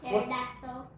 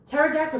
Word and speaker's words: pterodactyl: There's a there's a dinosaur that is It's spelled differently than it sounds. What was that dinosaur that you taught me in Addison? Pterodactyl. Pterodactyl.